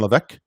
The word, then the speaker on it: Levesque: And this guy, John Levesque, or John Levesque, is how we pronounce it.